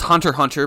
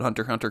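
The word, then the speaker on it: Hunter × Hunter: entirely separate series about Hunter x Hunter coming out. And did you guys know that you're not supposed to pronounce the X in Hunter x Hunter?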